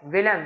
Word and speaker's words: Wilhelm: कर लो, फ्राइडरिच विलेम, विलेम है, विलियम नहीं है, विलेम, WILHELM, विलेम, फ्राइडरिच विलेम four.